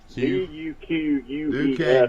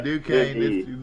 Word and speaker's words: Duquesne: D-U-Q-U-E-S-N-E. Duquesne. Its name. It's Duquesne. I didn't even know how to pronounce it.